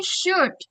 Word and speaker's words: should: Jadi L-nya itu gak kebaca teman-teman bukan should. No, should aja udah cukup L-nya itu hilang disamarkan. Jadi should should what should I do? Gitu. Kalau misalnya pengin lebih kedengaran more like a native speaker ya, the action pakainya should aja. Jadi L-nya enggak usah dibaca.